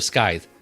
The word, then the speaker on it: scythe: Scythe or scythe? Scythe. Scythe. Yeah, it's a soft C. Yeah. Soft CK.